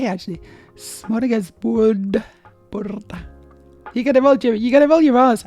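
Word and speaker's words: smörgåsbord: So instead of it goes ah, and you gotta roll your R's. And then you can sound Norwegian.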